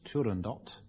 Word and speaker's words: Turandot: southernland that's right us turandot I like to pronounce the final T in the pronunciation Department of the BBC permit me to so tand do in